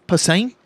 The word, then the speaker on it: Posehn: he was Posner? really rad, Or yeah. what's his? How do you say his name? Posehn.